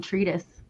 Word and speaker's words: Treedis: the name tretis um so in Hebrew there's no really sound for th so a lot of Israelis struggle to pronounce th and then if if you want to say like on this table let's 3D this table so 3D this for me so any average is